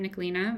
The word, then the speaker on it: Nicoline: my work email is just my first name nicolina of course the challenge is it's it's spelled with an e at the end instead of an a um but yeah nicolina